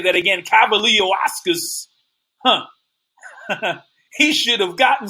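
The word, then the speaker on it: Kavaliauskas: it wasn't rule to knock down I think cavaliascus I know I pronounce his name wrong let me say that again Cavalier Oscars huh he should have gotten some credit kudos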